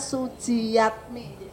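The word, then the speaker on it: Sujiatmi: Kalau dulu namanya Suji, tulisannya Suji Jatmi ya Bapak, tapi bacanya Sujiyatmi.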